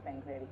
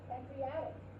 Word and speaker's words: pancreatic: Pancreatic. Open your mouth for the ah. Pancreatic. Good. Pancreatic.